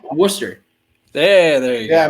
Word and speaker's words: Worcester: right i'm not gonna get it it's wrong worcester there there you go yeah my roommate freshman